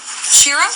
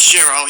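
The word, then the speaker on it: Chiro: it for the record my name is sherro it's spelled s c h i r o s c h i r o you got that right shirro shirro you almost pronounced it yes you got it Shir okay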